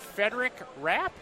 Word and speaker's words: Frederic Rapp: having me yeah I am happy to have federic rap that's it Wow and you just said you were gonna let him pronounce myself I'm gonna make it handle this